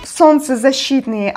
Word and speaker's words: солнцезащитные: The last vowel represents two sounds, Y and E, because it follows another vowel.